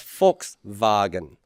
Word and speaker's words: Volkswagen: volkswagen in english volkswagen in german you would pronounce that as volkswagen volkswagen the wagon for